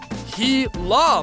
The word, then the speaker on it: Gila: intrigued by the Gila monster the Gila monster pronounced ki la monster is a solitary creature that spends most